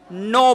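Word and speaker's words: know: नो पढ़ते हैं।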